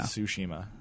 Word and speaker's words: Tsushima: Tsushima. All right, but yeah. Spelled with a T.